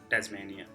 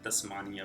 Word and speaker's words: Tasmania: One of them is Tasmania. So we generally call it Tasmania, which is not. So it's a Tasmania.